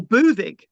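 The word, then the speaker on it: Buddug: So Prasutagus was the husband of Boudica, Boudicca or Boudicca, or Búthig in Siarad Cymraeg.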